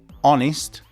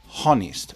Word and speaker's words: honest: So, the pronunciation is honest, not honest. There is no H. Well, there is a H in the spelling, but in the pronunciation, no.